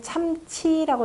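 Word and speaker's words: 參差: 참차라고 하지 말고 들쭉날쭉하다 할 때는 참치라고 읽으세요.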